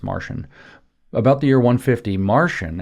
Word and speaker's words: Marcion: It's not Marcion, it's spelled Marcion, it's Marcion.